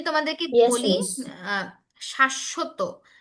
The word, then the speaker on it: শাশ্বত: আহ, শাশ্বত, শাশ্বত বানানটা এইখানে দেখো, এইটা একটা শব্দ। শাশ্বত শব্দের অর্থ হচ্ছে চিরস্থায়ী, মানে যেটা কখনো শেষ হবে না। এই ক্ষেত্রেও যেহেতু বফলাটা মাঝখানে, এই জন্য বফলার উচ্চারণ হচ্ছে।